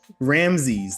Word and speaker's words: Ramses: Ramses.